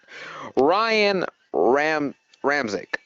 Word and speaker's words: Ryan Ramczyk: Ryan Ramczyk.